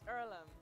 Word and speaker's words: Earlham: is it heirloom is it pronounced earlham it's earlham and it's a place for amateur farmers athletes